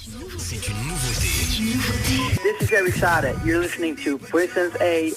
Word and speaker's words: Eric Saade: The real pronouncement is Eric Saade. La vraie version la vraie prononciation c'est Eric Saade.